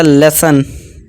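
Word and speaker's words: lesson: ठीक है दोस्तों, जैसे कि देखिए ओ आर आ गया, तो इसे टेलर, आ की आवाज़ निकाल दी हमने। इसी तरह लेसन, ठीक है, ओ एन है, ओ एन। डॉक्टर, इसे ओ डॉक ट और आ की आवाज़ ओ आर निकालनी है, आर, डॉक्टर।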